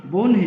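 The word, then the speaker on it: বহ্নি: যেমন আমরা যদি বলি ব হয় ন শিকার, বানানের ক্ষেত্রে আগে ন, তারপরে আগে হ, তারপরে ন। কিন্তু এটা উচ্চারণ যখন করবো, আমরা তখন বলবো বন হি। অর্থাৎ কি হলো? আগে এই যে বানানে আগে আসলো হ, কিন্তু উচ্চারণের ক্ষেত্রে আগে আসলো ন, তারপরে আসলো হ, বনহি।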